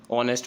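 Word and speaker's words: honest: तो ये वाला केस ध्यान रखना, आर में एच साइलेंट रहता है, ऐसे ही ऑनर में भी रहता है, ऑनेस्ट में भी रहता है, इसलिए इनके साथ क्या आर्टिकल लगेगा, एन लगेगा हर बार।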